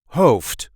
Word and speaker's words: hoofd: and this time we will see how to pronounce in a regular Dutch accent Hof or head in English this is how we